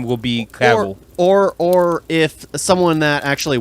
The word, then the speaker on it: Cavill: It's Cavill. I've never heard his name actually pronounced.